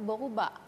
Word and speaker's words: boruba: Rambut itu boruba. Bo? Boruba. Boruba. Iya. Tetap R-nya berkarat itu. Iya, kan? Betul. Boruba, bukan berubah ya, Kak?